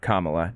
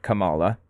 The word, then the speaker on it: Kamala: everybody has endorsed Kamala that's how her name's pronounced by the by Kamala not Kamala for what it's worth I thought it was Cala she's the nominee now